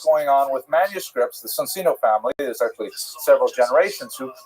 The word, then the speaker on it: Soncino: I will probably Cino because I was born in North America, but it is in situ it would be pronounced Soncino.